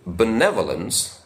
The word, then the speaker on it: benevolence: For example, In the word benevolence, the stress is on the second syllable, nev.